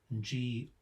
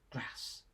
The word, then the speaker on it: grass: Northerners pronounce G-R-A-S-S with a short A as in at, so grass. Southerners use the same middle sound as you find in farm, so grass.